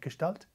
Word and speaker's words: Gestalt: Gestalt.